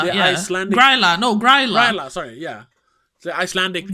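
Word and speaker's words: Grýla: Yeah, Grilda. The Yeah. Icelandic. Gryla. No, Gryla.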